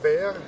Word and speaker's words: Wehr: je le maire de vert la ville jumelé avec le maire de verre de verre qui s'écrit donc c'est pas comme un verre chez nous mais un verre W HR d' c'est ville à